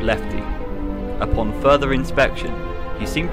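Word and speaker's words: LEFTE: Blueprints were discovered, and one was titled L-E-F-T-E, pronouncing Lefty.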